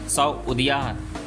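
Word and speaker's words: سعودية: अरबी भाषा में सऊदी का उच्चारण सऊदिया के तौर पे किया जाता है और जिससे इस देश का नाम सऊदी अरबिया पड़ा।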